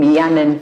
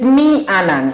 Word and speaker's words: Meannan: wondering meaning foods he tells about the name mianon okay i'm pronouncing it right yeah yeah perfect okay yes so um it is me anand if you can't really